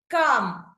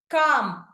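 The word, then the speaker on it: calm: కామ్. కామ్. ఇక్కడ కూడా ఎల్ అనేది సైలెంట్ అయింది.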